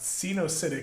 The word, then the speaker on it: coenocytic: It's a a spelled a weird one, but it's pronounced coenocytic hyphae.